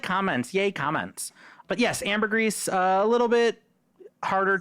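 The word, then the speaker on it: ambergris: Amber Grease. Uh I always forget that there you actually pronounce the S on Amber Grease. I forget that too. I've been calling it ambery the entire time and I know that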